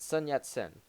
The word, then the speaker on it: Sun Yat-sen: his name we wanted to call him a SAT sun yat-sen mm-hmm prepared to take over with a revolutionary